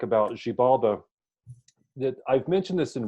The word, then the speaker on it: Xibalba: pronounce it for me he says it's she baba but I always say she baba cuz I guess the English stress puts it that way but name